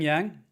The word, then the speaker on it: yang: Yang being the white, Yang with fang. Yang rhymes with fang. Think about a white fang.